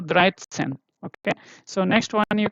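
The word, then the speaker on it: dreizehn: This first letter, the unit place is coming here, okay, dry, and then the second one, sen. If you already see here, 10 is sen, yeah. So first unit place, and then the 10th place, so Dreitzen, okay.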